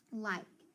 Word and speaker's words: like: that i consonant e so i know when i have that i consonant e pattern i'm going to make that long i and then that's going to be a silent e so i've got uh